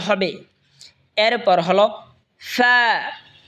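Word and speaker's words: فاء: এরপর হলো ফা, ফা, ফা জিহ্বার ঠোঁটের পেট সামনের উপরে দুই দাঁতের আগার সঙ্গে লাগে উচ্চারণ হবে ফা, ফা।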